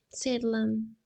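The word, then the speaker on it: Settlin': We do settling. Settling. Okay. So definitely also a country song considering how that is spelled. Um the last G is dropped off.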